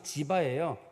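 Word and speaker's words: צִיבָא: 근데이 시바라는 말의 뜻이 그 원래 히브리어로는 발음이 지바예요 이게. 근데 우리나라는 지바냐 시바냐 상관없이 다 시바라고 씁니다.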